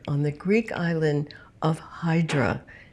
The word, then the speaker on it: Hydra: the Greek island of Hydra did I say that right in English that's Hydra in Greek it's idra idra okay so we're GNA say it right idra the island of idra